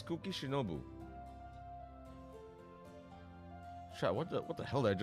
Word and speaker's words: Kuki Shinobu: Did I mispronounce the name? Yes. Yeah, it's Kuki Shinobu.